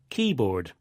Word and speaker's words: keyboard: With compound nouns, the stress usually goes on the first part, like this. Popcorn, ice cream, keyboard.